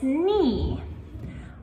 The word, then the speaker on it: knee: So, again, we pronounce it with the N sound, but we actually spell this with a K at the start.